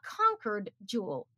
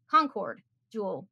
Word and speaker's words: Concord Jewel: that there's something called a conquered jewel concord jewel there we go that's how you say it uh has not been